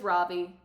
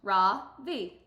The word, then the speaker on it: Ravi: It's pronounced Ra-Vi, with a soft Ra and a strong V. In Sanskrit, it means the sun. In America, people call me Ravi, with a stress on the first syllable.